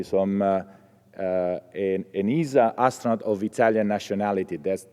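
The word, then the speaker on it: ESA: originally from Italy so I'm uh uh an Isa astronaut of Italian nationality that's that is the correct cor uh um pronunciation and um and so since 1998 there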